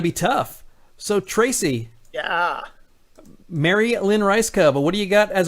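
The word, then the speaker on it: Mary Lynn Rajskub: And I went with the great Marilyn Ricegum. That's right. Ooh. I was waiting to see if you were going to say it correctly, but you had her on the show, so it is Marilyn Ricegum.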